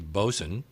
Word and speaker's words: boatswain: nautical turns for example what I always thought was boatswain is obviously bosun gunwale is gunnel forecastle